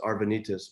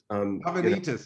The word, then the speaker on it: Arvanitis: So it's Arvanitis, but Arvanitis. I was over pronouncing something there.